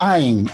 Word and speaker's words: Ayin: And one of them, most notable, is that we pronounce the letter Ayin. I don't know how many of you are fluent in Hebrew, but in modern Hebrew, we do not pronounce the Ayin. And instead, Italians, like also people from Yemen, and from some Mizrahi communities and some North African, but few, pronounce the Ayin with a sound that now we use this ng sound, like ng.